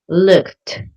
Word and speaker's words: looked: Instead looked the ed sounds like a T like really strong. looked but listened ends with a D sound less strong than looked.